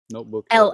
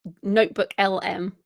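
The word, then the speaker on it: NotebookLM: And, although it did occur to me, as we're talking about the notebook LM, am I saying it right? LLM, notebook LLM. LM, it's just notebook LM.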